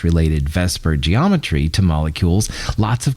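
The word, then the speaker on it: VSEPR: chemist to use so let's just call it Vesper all right and Vesper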